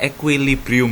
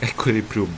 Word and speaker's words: equilibrium: latihan presentasi Oh keren banget Mas Gatot itu bacanya equekilibrium Ya equilibrium ya diingat-ingatakat mbak Oke begitu Jadi bacanya equilibrium